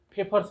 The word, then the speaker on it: Pfeffer: the first method is paper's method this is pronunciated as paper Okay so a favor